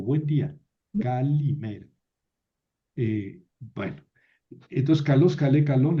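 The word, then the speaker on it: καλημέρα: Y luego los griegos leyeron esta eeta como i, lo que se llama el iotasismo o itasismo, que es pronunciar esta esta vocal e de sonido original era e como i. Entonces queda calimera.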